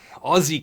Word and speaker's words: Aussie: some Aussie cash Aussie Aussie cash pronounced with a z 25 Aussie dollars uh